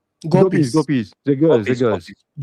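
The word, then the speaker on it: gopis: if I'm wrong, but you mentioned that the gobies or how do you say gobies? Gobies. Gopies.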